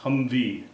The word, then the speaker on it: HMMWV: and my wife 1987 military hmm WB pronounced Humvee highly mobile multipurpose wheeled